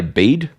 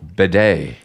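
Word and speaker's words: Bede: a pedantic correction from I'm going to say bead okay how do you spell it b e d e yeah it's be or Beday B I like bed say bed this is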